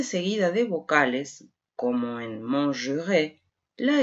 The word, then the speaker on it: manger: Observemos que la R, cuando está al final del verbo, al infinitivo, es muda, manger, y hace que la letra E anterior suena fuerte, manger, pero al encontrarse